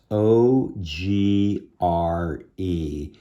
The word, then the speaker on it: ogre: would be agre o-g-r-e see the r is before the e but there's some words if you have an r e it's pronounced ER ogre I can't think of